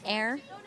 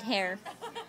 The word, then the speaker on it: heir: Heir? Because you said hair. Wait, what's they call it when they're like... H-E-I-R, an heir. A-T-I-R? H-E-I-R. H-E-I-R, yeah, what's it Heir. The H is silent.